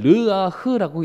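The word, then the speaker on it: רוּחַ: 코와 입에 불어 넣으셨던 이 생기라는 것이 히브리어로는 르아흐라고 읽습니다.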